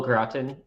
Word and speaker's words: gratin: Oh, gratin is how you say it.